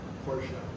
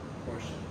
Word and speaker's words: Porsche: What's the proper pronunciation of that? Porsche. Porsche.